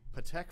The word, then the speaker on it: Patek: world so how much do you think a patek philippe watch would cost so i like it's pronounced Patek I like to look watches I would have